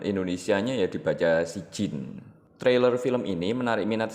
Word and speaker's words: Sijjin: films yang identik dengan film horor bermutu yaitu si Jin yang yang diangkat dari film Turki yang dirilis